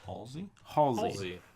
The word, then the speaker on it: Halsey: Halsey.